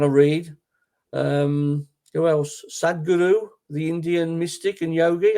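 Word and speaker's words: Sadhguru: inspiring me is is it's spelled sadh gu Ru sad Guru okay um he's done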